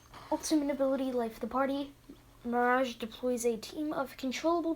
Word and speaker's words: Mirage: number five we have a mirage or as some people who don't know how to pronounce things incorrectly say maragi is passive is now